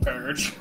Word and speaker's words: Purg: I mean, I know it's spelled P-E-R-G, but it's pronounced like purge.